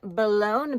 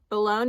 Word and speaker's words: Boulogne: way to say it at least according to the French pronunciation online that I found but anyway I got